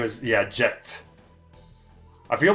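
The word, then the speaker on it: Jecht: way his name is jacked oh yeah his name is yeah jet I feel like I just I just want pronounce as jet but his name is spelled je CH T and you know Tifa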